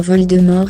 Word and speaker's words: Voldemort: Le T dans Voldemort est muet, écrit-il.